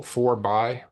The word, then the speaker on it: Forby: Yeah, it's like for the people, by the people, for by. But pronounced Forby.